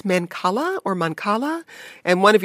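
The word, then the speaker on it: mancala: of the game Marcus yes it's uh manala is the is the right way to pronounce it it's actually a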